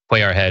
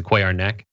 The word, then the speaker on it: Cuellar: a quay archwayo um as in spanish it's translated it's not a play our head it's a quai our neck um i'm a huge